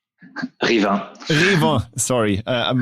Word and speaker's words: Rivain: Rivain, was that correctly pronounced? Rivain.